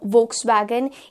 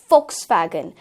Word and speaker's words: Volkswagen: एक और कॉमन नाम जो हम लोग हमेशा गलत प्रोनाउंस करते हैं, that is Volkswagen. इट्स नॉट Volkswagen, इट्स Volkswagen.